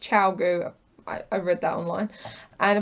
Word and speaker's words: ChiaoGoo: Apparently ChiaoGoo it's pronounced ChiaoGoo.